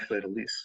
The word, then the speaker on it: fleur-de-lis: delete um if fleur-de-lis which actually pronounced fleur-de-lis of all things uh interestingly um that's the correct french pronunciation but flirty sounds a